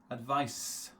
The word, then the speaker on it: advice: and the pronunciation advised advice okay you will never hear advice because that's the noun right the S sound is the noun sound you will just hear